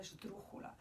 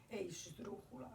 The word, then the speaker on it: esdrújula: But because it becomes such a long word, it actually becomes what's called a esdrújula. Esdrújula is a very long word that has the accent in the third syllable back, so it will always have an accent there.